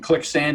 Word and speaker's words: ClickSand: else you want and click sand is spelled just like it sounds click sand like like quick sand only click okay well great well